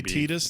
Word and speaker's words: Tidus: so forget correct pronunciation if you look at it and say like oh ty it's i think intended to be titus so it is intended to be titus and john was right